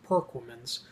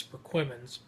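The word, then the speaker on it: Perquimans: proc women's County and some people pronounce it perk women's and although you want to pronounce it performance it's actually known by the locals as perk woman's it's like little town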